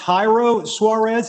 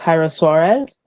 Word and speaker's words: Jairo Suarez: is your first name is it pronounced jairo suarez is that correct yes correct all right all right good afternoon everyone as todd so graciously introduced me my name is jairo suarez i am a student